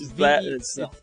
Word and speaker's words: Vermon: Yeah, it's Vermon. So it's not like little, vermin like the rats. It's a little different.